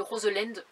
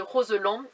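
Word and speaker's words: Roselend: dis le barrage de Roseland c'est pas comme ça qu'on dit je l'ai appris après je sais pas pourquoi je le prononcé à l'anglaise mais c'est le barrage de Roseland voilà qui se trouve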